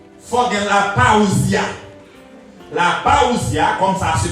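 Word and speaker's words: parousia: La paousia, comme ça se prononce, ce qui signifie en présence.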